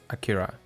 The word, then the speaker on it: Akira: By the way, the correct way to say it's Akira, but even the Japanese themselves sometimes pronounce it with a different accent.